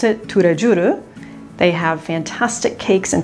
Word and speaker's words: Tous les Jours: Inside, they have an Asian French bakery, and it's called Tous les Jours, and they pronounce it Tous les Jours.